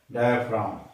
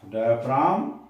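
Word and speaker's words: diaphragm: उसके बाद आता है डाय फ्रा यहां पर की साइलेंट होता है डाय फाम डाय फाम फम क्या होता है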